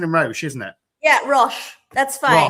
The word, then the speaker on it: Roche: So before we go any further, I want you to, am I pronouncing it right? It is and Roche, isn't it? Yeah, Roche. That's fine. Roche.